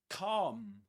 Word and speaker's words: calm: And this is calm. Calm in British English. Calm. Calm with a long r sound. Calm. Not calm. The L is silent.